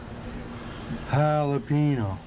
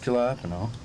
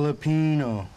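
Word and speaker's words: jalapeño: Ricky, the J's silent. You're saying it wrong. The J's like an H, Ricky. Jalapeno. Not jalapeno. What in the fuck are you guys talking about? Jalapeno.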